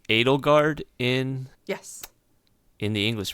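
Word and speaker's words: Edelgard: you know just because the close relation of NATO guard and Dimitri so yeah that's it's that's interesting it's pronounced Adel guard in yes in the English version cuz I've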